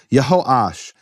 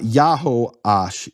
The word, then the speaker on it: Yah: of those names okay yah yah it's not yaho yah that's made up Hebrew